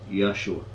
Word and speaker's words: Yahshua: He felt that the name Joshua should be pronounced correctly, Yahshua.